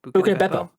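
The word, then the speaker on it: Buca di Beppo: Buca de Beppo.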